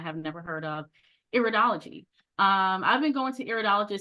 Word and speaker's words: iridology: Iridology or iridology, some people say it differently, but I say it or pronounce it iridology.